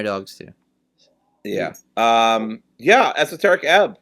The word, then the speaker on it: Esoteric Ebb: Let's get to our last topic of the night, which is Dory's spotlight for esoteric eb, right?